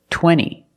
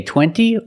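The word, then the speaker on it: twenty: Or this word, 20. You can say 20 or you can say 20. Most Americans will say 20.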